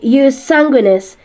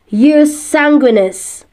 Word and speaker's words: jus sanguinis: Sa Latin, ito raw ay Jus Sanguinis. Jus Sanguinis. Sa American pronunciation naman, pwede rin daw ang Jus Sanguinis.